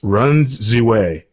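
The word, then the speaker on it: Ren Ziwei: a speed skater from China whose name is pronounced Run Ziwei.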